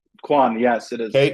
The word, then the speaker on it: Quan: I I can spell his name, but you pronounce it for me. Khoy, is it Quan? Quan.